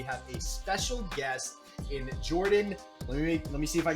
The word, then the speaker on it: Jordan: So first name is pronounced actually Jordan.